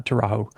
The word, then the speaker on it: Arido Taurajo: Uh terrau. And that's how she pronounces it um when she's singing it is terra. So, it's a J like is as in soft Spanish.